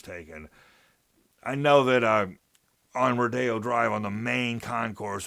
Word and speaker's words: Rodeo: which is just like the word just like rodeo, but spelled the same way. But in this manifestation, it's referred to as rodeo.